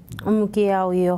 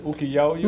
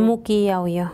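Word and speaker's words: Muquiyauyo: Mukiaoyo, Jauja. ¿Cómo se dice? ¿Ukiaoyo? Mukiaoyo. Mukiaoyo. Sí. ¿Dije bien? Sí, Mukiaoyo. Sí, correcto. Y usted ganó el caso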